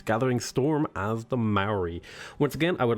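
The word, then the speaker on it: Māori: and we're playing the Maori? It's not the Maori, it's the Maori. Sorry, I've been saying it wrong.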